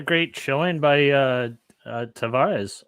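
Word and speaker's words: Tavares: chilling by uh uh tavarez or as as i guess his name is pronounced tawaj tavage i'm curious about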